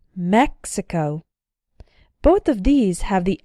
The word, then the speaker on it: Mexico: And if the X is followed by a vowel sound, but not followed by the stressed syllable, then the X is still pronounced ks, as in the words taxi and Mexico.